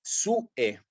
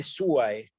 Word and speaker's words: suae: igual que sue, suae, que lo voy a pronunciar en latín eclesiástico como una E. ¿Sí? Ancille sue. ¿Sí? Sue. Esto en latín clásico lo pronunciaría como anquillae suae.